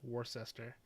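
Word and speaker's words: Worcester: pronounce some of these names I know it's pronounced like gluster GL gler Glouchester Worster was the worst war sester but you know I've been living here for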